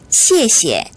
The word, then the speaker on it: 谢谢: 앞에 거는 된소리가 나서 시에라고 발음이 되고요. 뒤에 시에는 발음이 경성이니까 약해져서 시에 이런 식으로 가볍게 발음이 되겠죠. 다시 한번 읽어볼게요. 시에시에, 시에시에.